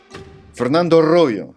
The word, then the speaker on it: Fernando Arroyo: Fernando Arroyo. Did I pronounce it correctly? That's pretty good. No, I lived in Spain, so I know how to pronounce it. Arroyo is an Army veteran, former paratrooper with the 82nd Airborne Division.